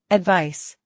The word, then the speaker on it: advice: advice, 충고. 조언. advice, advice, 충고하다. 조언하다. advise, 충고하다. 조언하다. advise, advise, 충고, 조언은 명사로 advice라고 하고 충고하다, 조언하다는 동사로 발음이 advise입니다. advice, advise 기억해 주세요.